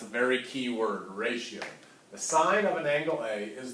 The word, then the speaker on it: sine: SI in you know please don't say sin I might pick on you a little bit all right it is the sine of angle a alright it